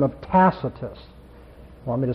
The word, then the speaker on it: Tacitus: There was a Roman historian by the name of Tacitus. Want me to spell that for you? T-A-C-I-T-U-S, Tacitus.